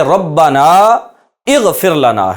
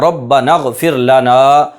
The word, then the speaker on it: ربنا اغفر لنا: اغفر لنا۔ اب یہ ربنا اغفر لنا ہے، اس میں غین سے پہلے حمزہ ہے لیکن اس حمزہ کا تلفظ نہیں کیا جائے گا، ربنا اغفر لنا، یہ حمزہ وصلیہ ہے۔